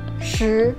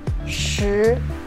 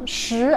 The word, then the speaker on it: 十: The last one, 十, 十, 十, okay? 十, 十, 十, or 十, okay? Both are fine. 十 as in sheet, okay? Sheet. The SH sound, but make it stronger, okay?